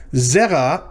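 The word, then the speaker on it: זרע: Zera, notice it's 2 syllables. The first one of them is accented, so we know this is a segholate.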